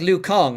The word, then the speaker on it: Liu Kang: drives me nuts that liu kang in mortal kombat is pronounced wrong by a company that wanted a china-centric fighting game yeah oh yeah oh yeah because it'd be luke it'd be like lu kong right would be how you pronounce it yeah it's uh